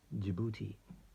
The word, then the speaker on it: Djibouti: Djibouti, that's spelled with a D.